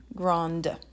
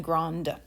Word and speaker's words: grand: an e to it now you pronounce that final consonant whereas you didn't pronounce it when it didn't have a vowel after it so in the masculine gran in the feminine grand and for the feminine